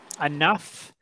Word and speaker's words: enough: Okay, but the ending sound is a F sound at the end, so?